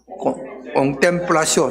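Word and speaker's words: contemplatio: 꽁플라시오 따라합니다. 이게 영어로는 컨템플레이션인데 이게 라틴으로라서 그렇게 발음하는 겁니다.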